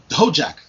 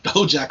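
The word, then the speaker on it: Dhojakt: incorrectly i'm the sure ho jack it's spelt d-h-o-j-a-k-t so i have no clue that's actually pronounced no jack sounds good now this this guy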